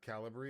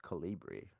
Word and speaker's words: Calibri: font over waste bro uh over wasteful uh caliber. Is that how you pronounce it? I never knew how to I always went with Calibri.